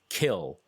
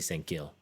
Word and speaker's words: Sang-gil: which I always thought was Kill, K-I-L, but as we all have now learned that the K's and the G's are very similar, so yeah, so I'm pronouncing it more the Gil, I guess.